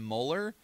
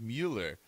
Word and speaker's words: Mueller: it as Robert and molar but like I I know people that have his exact last name it's a German last name and it's pronounced Mueller so maybe he pronounces